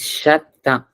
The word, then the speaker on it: cheveux: Shate, It's shatta.